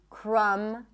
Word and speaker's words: crumb: When there is MB, especially at the end of words, the B is not pronounced. So in words like limb, climb, no B, bomb, no B, crumb, plumber, comb, there is no B whatsoever.